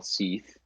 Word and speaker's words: Seath: I mean, if you want to follow me on Instagram, it's Seath. Seath is spelled like death, but instead of a D, it's an S.